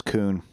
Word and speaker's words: Kuhn: Okay, so it's not Cohen, it's Kuhn.